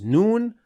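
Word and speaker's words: ن: to lamb and N we pronounce noon from behind the lamb so noon is closer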